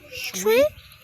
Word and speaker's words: 水: Water in Mandarin is pronounced as shui.